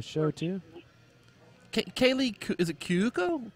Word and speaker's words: Cuoco: Kaylee, is it Kyuko? Koiko? What's her name? Cuoco. How do you pronounce the last name? I believe it's Cuoco.